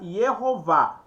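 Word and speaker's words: יהוה: Aqui a regra da distinção silábica, tá? A distinção silábica, a regra que determina que o vav seja uma sílaba. Então ele uma sílaba, uma consoante. Ele será uma consoante, tá? Uma consoante e não uma vogal. Então nesse caso aqui seria Yehová. Preste atenção.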